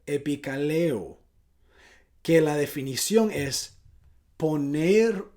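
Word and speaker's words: ἐπικαλέω: Esa palabra invocaré en el griego se dice o se puede pronunciar epikaleo, que la definición es poner un nombre, un apellido, permitirse llevar un apellido.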